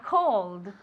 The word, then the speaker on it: call: Se escribe con una A, pero se pronuncia como si fuera una O. Call. Y es largo, okay?